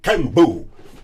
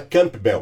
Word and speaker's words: Campbell: É também certificado em alimentação vegetariana pelo Ticolen Cambu, bonito o nome, né? Tem gente que fala Campbell, mas é o pronúncia é cambu mesmo, tá?